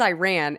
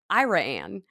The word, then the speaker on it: Iraan: uh but anyway uh the way Jr pronounces Iran he says Iran and I think he's talking about West Texas because there's a small town that it looks like Iran but it's 2 a so i r a a an and it's pronounced iraan and like can you